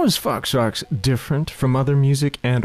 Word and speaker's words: Fox Rox: Plus, Fox Rocks rhymes with chicken pox.